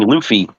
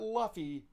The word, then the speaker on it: Luffy: Yeah, and we are getting we are getting Luffy. Oh, I am One Piece. I am hoping to God they pronounce the name wrong.